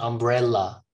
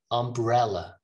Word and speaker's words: umbrella: please help me here umbrella ella ella not ah it's not umbrella okay umbrella umbrella information infer not for